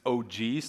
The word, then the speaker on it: OGs: It's OGs, not Ox, or something like that.